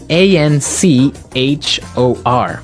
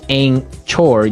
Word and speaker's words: anchor: Now, it's spelled A N C H O R. Right? But you don't pronounce the ch as you normally would, right?